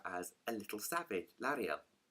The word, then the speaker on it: Lyra: The author actually describes Lara as a little savage. Lyra. How do you say her name? Lyra.